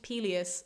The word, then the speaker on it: Peleus: So Peleus the king is spelled P-E-L-I-A-S, but we will meet Peleus, Achilles' dad, who is P-E-L-E-U-S, and you will just have to know for context who I'm talking about.